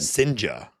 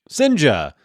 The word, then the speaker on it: Cijntje: Sinja. Sinja. If you're curious, it is spelledCijntje.